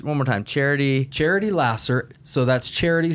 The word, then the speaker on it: Laser: more time charity charity lasser so that's charity spelled like the pure love of jesus pure love jesus lasser l-a-s-e-r okay spelled like laser pronounced lasser okay um look truly